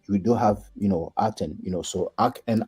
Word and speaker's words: Aten: determinative that's a sundisk so this spells you know eaten but in English we pronounce it aten so that that is